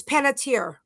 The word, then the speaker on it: Panettiere: Um also the actress I mentioned yesterday, the Hayden I don't know if I'm pronouncing her last name right. It's Panettiere. Panettiere.